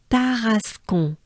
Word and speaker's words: Tarascon: Tarascon.